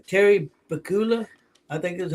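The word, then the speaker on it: Terry Pegula: Terry Bakula, I think is how you pronounce his name, did a press conference and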